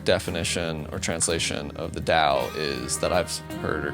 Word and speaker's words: Dao: this is typically like historically this has been spelled with a t t AO U but I'm using Dao because I figured I don't want to create more confusion I've seen D used more often these days than not so any figured I would spell it the way it sounds um da usually translates